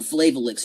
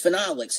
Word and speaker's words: phenolics: say that right um flavalix you know it's phenolics and that just means